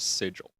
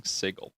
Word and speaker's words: sigil: I'm pretty sure it's supposed to be pronounced sigil. Um but everyone has been very consistent with saying sigle.